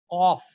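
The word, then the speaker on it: ق: Qaf, again, it's a heavy letter.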